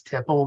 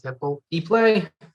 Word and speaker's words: tiple: What is the history of I guess that's tipple, the mandolin? Is that how you pronounce that? Tipple? Tiple. Usually call it tipple, but I guess the proper pronunciation is tiple.